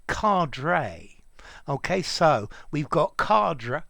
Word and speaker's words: cadre: it um but well it's linked to to a french word and in my opinion that's how it should be said okay so cadre carda cadre yeah but for me card okay so let's go